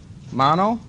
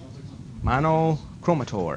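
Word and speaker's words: monochromator: mono there it is how do you say it monochromatic no not monochromatic mon cheter that wasn't in the reading monoch chromator exactly monochrometer okay then you have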